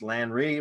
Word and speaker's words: Landry: problems pronouncing my name it's pronounced lanree as in rio so i've got it